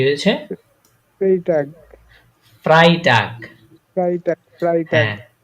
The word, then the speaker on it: Freitag: A G কি হয়েছে Freitag ফ্রাইটাগ Freitag হ্যাঁ ফ্রাই এই যে ই আগে তারপর আয় পরে তাহলে কি হয় ফ্রাই হ্যাঁ ফ্রাইটাগ Freitag হ্যাঁ ফ্রাই বা একটা কলার ছিল তো তার জন্য লিখলাম আর কি।